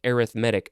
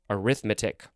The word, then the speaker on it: arithmetic: And I think in this case it's pronounced arithmetic, not arithmetic.